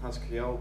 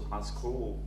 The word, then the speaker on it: Hasql: significance confusable with Haskell I tend to call it has Cleo but I might switch to high school that point at some point in time so just be prepared